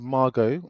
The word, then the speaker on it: Margaux: Margaux. So tell us about this, because you saw French this. French way of pronouncing it, I think. So this is called Margaux, and this is this